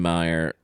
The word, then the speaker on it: Mayer: Right, but it's still Oscar Mayer. Meyer. It's Meyer. Oscar It is Oscar Meyer. Meyer, but it's spelled with an A.